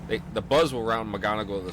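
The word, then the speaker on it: McGonigle: looking at something I saw on is it McGonagall is that how you say it yeah mcgonago yeah okay uh it was on MLB's the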